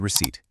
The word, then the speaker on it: receipt: Bargain, cash, and receipt. Make sure you catch that silent P in receipt.